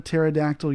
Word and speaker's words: pterodactyl: why can't you hear a pterodactyl urinate because the p is silent um sorry i don't